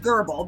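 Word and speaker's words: Goebel: struggling a bit so William gerbal is spelled g OE b l it's a and because it's a German name I am saying Geral because I believe that is correct if I am wrong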